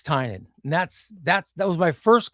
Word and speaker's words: Tynion: And my question was James, do you pronounce your name like onion? Is it Tinian or is it Tynion? And he goes, you actually understand the Irish pronunciation. I said, yeah. And so he goes, it's Tynion.